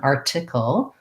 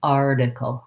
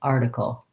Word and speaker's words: article: of a flap so in american english the t in the middle of words often sounds like a d so i'll rewrite that as a d because that'll help your brain to get that pronunciation rather than article with a puff of air it's a light tap up with my voice on article article this is the same